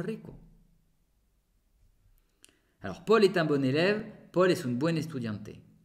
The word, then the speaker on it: bon: Paul est un bon élève. Alors, yo digo bon, pero se escribe bon. Solamente que yo hago la liaison.